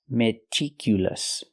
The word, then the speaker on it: meticulous: not meticulous it's meticulous the second syllable is pronounced I I meticulous use the short I sound like this is remember it's more open I meticulous not meticulous I cannot use a long e like green beans I need a short I meticulous again it's important